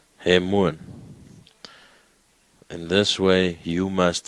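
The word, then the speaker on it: ἡμῶν: And then there is a mi, there's an omega, and then there's a nun. So now try and pronounce that one. He. Hemuan. Do you agree? Ha. He. M. Omega N. Hemuan.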